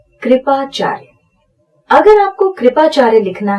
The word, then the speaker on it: कृपाचार्य: यहां पर एक बात का ध्यान रखिए, जब रफार लगा होता है तो जिस अक्षर के ऊपर वो लगा होता है उसका उच्चारण उस अक्षर के पहले होता है।